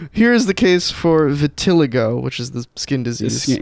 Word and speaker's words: vitiligo: Vitiligo. No, vitiligo. It's spelled differently throughout this.